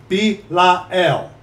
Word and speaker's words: Belial: And what concord hath Christ with Belial? Or what part hath he that believeth with an infidel? Belial. Three syllables.